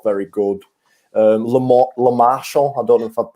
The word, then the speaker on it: Lemarchand: Lemarchand, I don't know if I've pronounced that right.